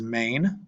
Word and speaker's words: mane: In English, we would probably just pronounce this as mane, right? Like a horse's mane. But in Latin, you pronounce every syllable that you see. Syllable meaning like every vowel gets pronounced. So it'd be ma, ne.